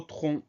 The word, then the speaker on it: tronc: Le mot tronc, au début, on entend tr qui s'écrit TR sans surprise. Ensuite, on a le son on qu'on va écrire ON sans surprise, pardon. Et à la fin, on a une lettre muette, c'est le C qu'on n'entend pas dans le mot.